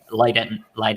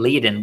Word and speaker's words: Leiden: By the way, I think I was saying Leiden. What's the right way to say it? Is it Leiden? It's Leiden, yeah.